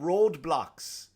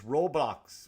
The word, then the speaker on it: Roblox: that what's you know Roblox which is not called roadblocks I thought it was roadblocks it's Roblox or Roblox I'm saying around this whole time I've been saying it wrong or like oh you're